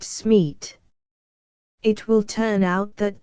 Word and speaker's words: Smith: Smees is very much as an Italian would pronounce Smith, as, you know, the French call it Smeet.